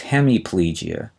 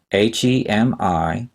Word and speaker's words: hemiplegia: described in the textbook the first one is hemiplegia h-e-m-i-p-l-e-g-i-a hemiplegia refers to one half of the body